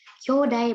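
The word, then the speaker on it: 兄弟: Kyodai bacanya nasang.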